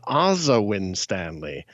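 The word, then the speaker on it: Asa Winstanley: i remember i just learned that uh he pronounces his own name azawin stanley oh hey i'm sorry man i i said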